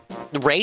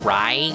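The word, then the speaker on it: Raigh: Ray is the one I'm really bad with because it sounds like I'm supposed to say like a I in that name. I want to say like Ry Ray Ray.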